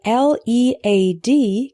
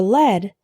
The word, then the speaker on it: lead: The word L-E-A-D can be pronounced lead or led. Lead is a verb, meaning to direct, show the way, be the leader. For example, the teacher will lead the students on an excursion. When L-E-A-D is pronounced lead, this refers to a type of metal.